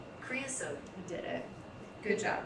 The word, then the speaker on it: creosote: to describe impossible things like the scent of creosote? I don't know. I'm gonna look it up. Welcome to the Arizona, like. I mean, I'm assuming it's thing. A plant. It's a bush! Pronunciation. Creosote.